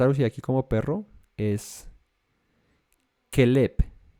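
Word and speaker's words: כלב: La palabra para que está traducida aquí como perro es kelep, kelep. Y se escribe, o sea, las letras son las mismas que el nombre de Caleb, el hijo de Jefone, ¿cierto?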